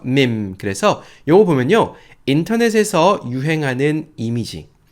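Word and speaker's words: meme: 밈, MEM이에요. 그래서 매라고 읽고 싶지만 그냥 밈이라고 읽혀요. 이 장모음인 거죠. 미 하면서 밈.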